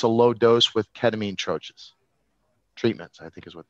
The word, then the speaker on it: troche: It's a French word. It should be troche. And here in the US, we pronounce it troche, and it just bugs me.